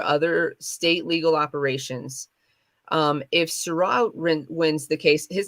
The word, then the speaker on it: Sirois: If Surratt wins the case, his name is spelled Sirois, by the way, wins this case,